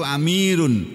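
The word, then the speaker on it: أمير: Ini jamak dari amir. Kalau satu amirun, tulisannya amirun, bacanya amir.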